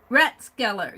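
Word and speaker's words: Rathskeller: Ratskeller, you said it right the first time. It's pronounced Skeller like cellar.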